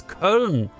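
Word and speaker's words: Köln: is the biggest difference it's cone you know you guys say k o with the two dots Ln we call it cologne and we spell it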